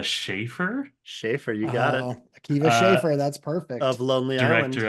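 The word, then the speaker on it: Akiva Schaffer: is Lucas tell me if I'm saying his name wrong uh Kea schaer schaer you got it Kea schaer that's perfect of lonelyland director of oh yeah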